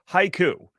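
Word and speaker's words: HYCU: out of the way let's start with Haiku which is spelled h-y-c-u which is in fact an acronym that I've already forgotten what it stands for anyway let's stick with Haiku then yes what do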